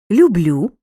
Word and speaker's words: люблю: наголосу в дієсловах любити люблю любимо любитимуть часто в дієсловах першої особи однини я наголос падає на останній склад люблю роблю кажу несу зверни увагу на особливості